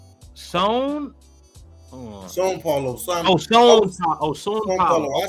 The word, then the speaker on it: São Paulo: Also, it's pronounced São Paulo.